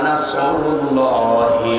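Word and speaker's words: نصر: আল্লাহ পাক বলেন ইযা জাআ নাসরুল্লাহি ওয়াল ফাত, হে নবী আল্লাহর সাহায্য যখন আসবে আপনি তখন বিজয় দেখতে পাবেন। যদি মুখটা গোল না করে সিন দিয়ে উচ্চারণ করেন অর্থ হয়ে যাচ্ছে হে নবী যখন শকুন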